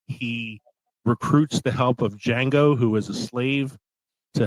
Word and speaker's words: Django: With Django Unchained. The D is silent.